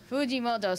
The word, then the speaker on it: Fujimoto: zero Fujimoto woo extra Fuji that's woody moto Fujimoto sorry I'm for now I'm pronouncing each syllable the wrong way he did